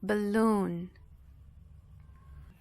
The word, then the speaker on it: balloon: E aqui o stress, essa parte mais forte, a tônica, ela vai ficar justamente na segunda sílaba. Então, balloon.